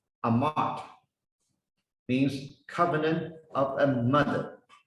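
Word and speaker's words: אמת: It pronounced Amat, means covenant of a mother.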